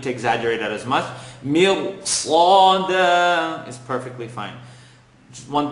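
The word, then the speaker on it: ص: Sada, totally wrong. Sada, you're not pronouncing it with it, giving it its right. So Sad is heavy, second part of the tongue. Sa, dal, tip of the tongue behind the top two teeth. Da, Sad.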